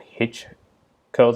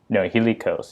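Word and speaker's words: Hilichurls: And I think they're called hitch curls. I think that's how you pronounce it, hitch curls or something. No, hilly curls.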